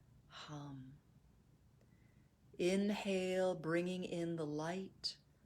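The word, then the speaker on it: ham: soul as you exhale the seed syllable is hum h-a-m with a nice vibration of the lips at the end this is done silently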